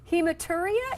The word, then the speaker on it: hematuria: you like 10 times how do you say this hematuria is that correct perfect all right good good